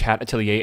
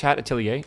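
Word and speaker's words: Atelier: Witch hatilier. Yeah, I think it is that how you say it's a French word, right? Itilier.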